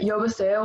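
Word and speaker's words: 여보세요: But Yobaseo would be like over the phone, like hi, sup, what's up, how are you?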